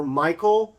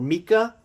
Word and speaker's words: Michal: And this is a story where Michal, or Micah, if you want to pronounce it either way, his first wife that he got from Saul, she is upset at David.